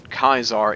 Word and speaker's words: Caesar: They also pronounce Caesar in a very weird way, Kaisar, which as it turns out, Kaisar is the correct way to pronounce the name.